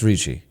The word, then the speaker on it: Ricci: to pronounce it how you're Italian yeah it's Richi Richie yeah she was like e